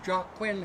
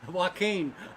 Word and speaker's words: Joaquin: And the racing owners, Jock Quinn, had made a bid of $300. We accept bids in the amount, did I pronounce it correctly? Joaquin. Sorry, Jock Quinn. Joaquin, my daughter corrected me, has bid $300.